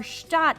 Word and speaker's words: Gstaad: elbows with billionaires well Gat or shot officially how it's pronounced has it all I'm